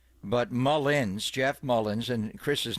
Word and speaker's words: Mullins: with Charles Johnson and then you had not Mullen but Mullins Jeff Mullins and Chris's name is the most mispronounced name and I think in sport for